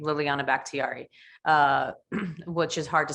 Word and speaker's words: Liliana Bakhtiari: right like so linkedin it's just my name liliana backtiari uh which is hard to spell so let me spell it out for you so l-i-l-i-a-n-a last name